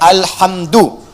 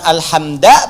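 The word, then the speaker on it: الحمدُ: Dibacaannya alhamdu, bukan alhamda pakai fathah atau alhamdi pakai kasrah. Ya, apa bacanya? Du, alhamdu pakai dhammah.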